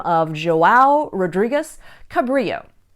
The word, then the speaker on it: Cabrillo: name of Joey Rodriguez Cabrillo but Richmond residents pronounced at the anglicized way Cabrillo and the weird pronunciation